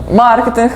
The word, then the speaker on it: маркетинг: рівнеську групу авінта що правильний наголос в слові маркетинг падає на а а не на е ну тобто тобто От